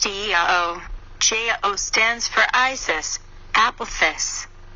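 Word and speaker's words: IAO: Vibrate 4 times the God name, Lao, pronounced Eao.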